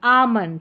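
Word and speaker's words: almond: Number 34 पर है एल एम। इसको म करके पढ़ेंगे। क्या है? एल एम। इसको म करके पढ़ेंगे। काम पाम सैमन और यह है बाम। यह है आमंड।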